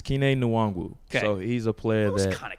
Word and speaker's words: Kene Nwangwu: Vikings, Kini Ogane, is that how you say his name?